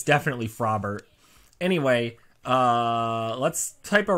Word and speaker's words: Frobert: I called fro them frober it's probably frobbert right because it's like Robert and like frog is pronounced frog not frog uh that's my bad her name is it's definitely frobbert anyway uh let's type